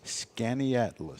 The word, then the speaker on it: Skaneateles: Skaneateles. Yeah. I never would have gotten that. In a sounded like it's spelled, I'd have never gotten that.